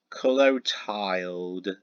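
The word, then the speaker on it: Clotilde: already seen everything this character is pronounced as color tiled it's spelled as c-l-o-t-i-l-d-e it's a very interesting female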